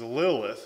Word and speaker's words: Lilith: means screech owl and the way that it's pronounced is lilith and so they thought it was some person